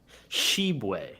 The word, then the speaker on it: Tshiebwe: Shibwe, that's how you say it.